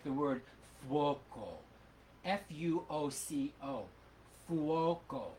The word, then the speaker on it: fuoco: find, like the word fuoco, F-U-O-C-O, fuoco. In that case you actually sing the second sound. It's uo, ooh-oh, and you actually sing fwoko.